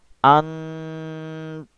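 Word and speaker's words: أن تنفذوا: Jadi membacanya harus disamarkan. antanfudu.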